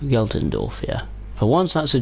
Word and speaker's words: Geltendorf: sunshine yeah is that how you say it galtendorf geltendorf yeah for once that's a german word i can't pronounce correctly i can pronounce it correctly uh